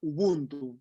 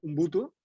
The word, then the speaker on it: Ubuntu: Él habla un concepto que se llama Ubuntu. Él lo pronuncia Ubuntu, pero en verdad es Ubuntu.